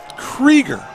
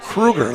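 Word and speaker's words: Krueger: for a couple Krieger he spills his last name the same as I do k-r-u-e-g-e-r but he pronounces it Krieger the old German way instead of Kruger like I did keeps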